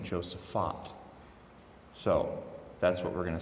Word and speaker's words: Josaphat: Joseph on Josaphat I grew up saying Joseph Patton and I was sternly corrected by someone who went to a parish in Chicago they pronounced it the st. Joseph font so that's what we're